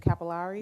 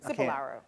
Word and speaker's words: Cipollaro: Is it Capillari? Yeah. Capillari? You know, I can't pronounce it. Cipollaro. Yeah, Cipollaro. I keep getting it messed up.